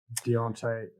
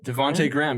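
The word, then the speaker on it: Devonte': maybe one yeah some people were saying uh deontay i always get this guy's name wrong devonte devante graham yes thank you devante graham i kept my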